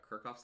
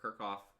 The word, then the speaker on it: Kirchhoff: CH o FF and it's either Kirchhoff or kerkhof I always say kerkhof but it's probably just because I don't have enough knowledge of how you're supposed to spell it so Kirchhoff's laws so